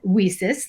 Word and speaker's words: WiCyS: acronym leases w-i-c-y-s and we pronounce that we sis like we sisters because that's exactly what